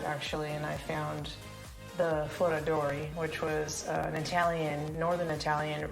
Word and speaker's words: Foradori: Say it like an Italian. Foradori.